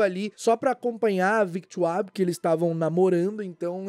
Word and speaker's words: Victoire: A Victoire também foi cortada, que é a filha do Guy e da Fleur, que inclusive a pronúncia é Victoire, não é Victoire, porque é francês o nome dela.